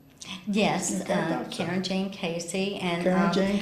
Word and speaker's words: Carin: I had thought about it anyhow, but you said doing business as, and is that still pronounced Karen? Yes, Karen Jane Casey.